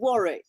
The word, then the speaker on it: Warwick: I want to hear the way you say it Warwick Warwick we call it Warick oh War so I'm